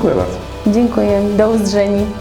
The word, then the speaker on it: do uzdrzeni: Thank you, do uzdrzeni. (pronounce: doh oozdzheni – i.e. in Cashubian: ‘See you’) Do uzdrzeni.